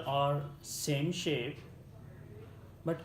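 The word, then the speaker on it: ث: You need to be your tongue you need to be put of between of your both teeth, up and down teeth, and then you pronounce of this word sa.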